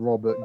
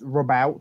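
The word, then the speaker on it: Roboute: And I called him Robert Gilliman, and someone basically stand there and said, no, it's actually pronounced Robout.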